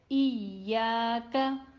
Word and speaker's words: إياك: So it is to be read iyaka, iyaka.